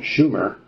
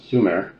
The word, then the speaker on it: Sumer: their land Su end except for mispronounce anouncing the name it should have been Schumer not Su aat was right Su